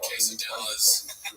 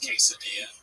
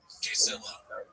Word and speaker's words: quesadilla: They go pronounce this word, and then they have a word on the screen and it says quesadilla. And he's like quesilla.